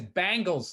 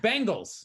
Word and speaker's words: Bengals: and what'd you say isn't it bengals but there's like three different pronunciations i don't know how you just said it everybody says he says bangles like the girl band yeah it's it's bengals oh you know this